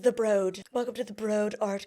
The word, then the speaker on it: The Broad: downtown LA to what I now know is pronounced The Broad, which sounds so utterly uppity, okay?